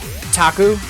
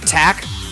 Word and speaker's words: Taku: in that context yes similarly for Taku it's supposed to be like a phonetic similar like phonetically similar to on cocoon which is Japanese for music which is why it's Taku and not tack I just wish there